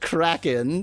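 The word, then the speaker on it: Crazkin': It's pronounced Kraken, says Spec.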